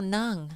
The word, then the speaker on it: ng: How do you say NG? Come on. No. No, nang. Nang.